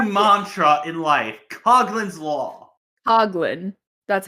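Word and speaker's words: Coughlin: Coglin. That's how you pronounce it.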